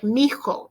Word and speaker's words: mi hijo: Yo soy más baja que, and then my son is mi hijo. Now, when I pronounce this, it sounds like mijo because this is a silent H and it sounds like one big word, mijo.